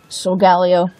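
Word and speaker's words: Solgaleo: this one is the sole galay 01 some people pronounce it so Gallio I think it's old alejo makes more sense to me anyway as usual we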